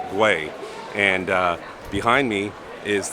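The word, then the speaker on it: Güell: so sorry but earlier I said Park aguel no I just can't pronounce everything it's Park Way and uh behind me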